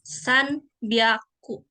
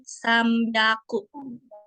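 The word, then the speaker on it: 三百: Kalau huruf N itu ada bertemu sama huruf B atau P gitu ya. Itu biasanya sebelum huruf B atau sebelum huruf P itu dibacanya M ya. Contohnya nih, kan ini Sanbyaku. Tapi cara bacanya karena bertemu huruf B jadi Sambyaku. Tuh.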